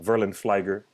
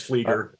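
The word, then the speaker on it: Flieger: ago thank you and i interviewed um uh verlind flager did i mispronounce her name it's fleeker i did i did mispronounce oh my goodness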